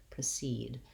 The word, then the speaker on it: precede: In precede, because it has second syllable stress, the clear vowel E, like the word seed, is in the second syllable. And this syllable is longer, has the clear vowel, and then the E in the first syllable says the relaxed vowel I, precede.